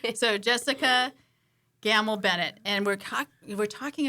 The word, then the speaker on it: Gammell: excited it's um Jessica she did tell us it rhymes with camel and I was gonna say camel Bennett but that's not right so Jessica gamble Bennett and we're we're